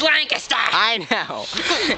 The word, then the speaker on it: Lancaster: Yeah, a lot of people pronounce it wrong. Yeah, they're like Lancaster. Lancaster. Lancaster. We're going to Lancaster. It's Lancaster.